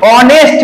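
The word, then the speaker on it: honest: Taj Mahal question number তিন mister Sen is dash অনেস্ট ম্যান লক্ষ্য করো এইচ এর উচ্চারণটা এখানে হয় না অনেস্ট মানে সৎ ম্যান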